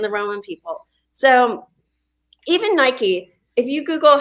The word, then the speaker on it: Nike: way to pronounce it Nike does look like it would be pronounced Nike it rhymes with Mike and bike it's spelled the same way yeah um there is